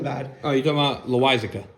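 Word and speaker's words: Loáisiga: I don't even know how to pronounce his name. Lucas L. He wasn't bad. Oh, you're talking about Loizica. Loizica, yes, thank you.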